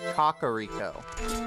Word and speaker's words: Kakariko: say cack to shorten it, but if you want to go by Japanese pronunciation, it would be kakariko.